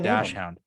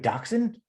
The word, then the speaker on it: dachshund: A lot of these unnamed cow, unnamed deer, unnamed bird, Alan the dash hound. I guess it was just a random. Do you say Alan the dash hound? Yeah. Don't you mean dachshund?